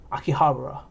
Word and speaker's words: Akihabara: i used to live in america about akihabara akihabara that's how you say it so yeah here